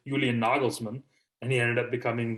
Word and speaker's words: Nagelsmann: actually as the right nikolai and the german pronunciation julian nagelsmann and he ended up becoming the bayern munich